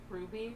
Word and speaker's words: RWBY: Um, how do you pronounce that? RWBY. Ruby.